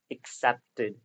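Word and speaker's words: accepted: इसको पढ़ते हैं हम एक्सेप्टेड। The first syllable that is एक्सेप्टेड। Okay? बहुत सारे स्टूडेंट्स इसको मिस प्रोनाउंस करते हैं।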